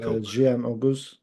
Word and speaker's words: Jiyan Oguz: Today we're joined by Jiyan Oguz. Is that right? Hoping that's That's correct, yeah. It's cool. Jiyan Oguz.